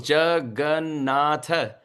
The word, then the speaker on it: Jagannatha: The four syllables, Jagannatha, we are able to say so easily because no love in the heart.